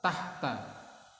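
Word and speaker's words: تحت: Diucapkan ya oleh kalian, diulang-ulang, tahta. Ini pendek semua, nggak ada yang panjang.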